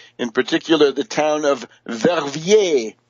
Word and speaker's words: Verviers: It is continuing in the sense the turmoil and the agitation in France, Germany, Netherlands, and Belgium, in particular the town of Verviers, V-E-R-V-I-E-R-S, Verviers.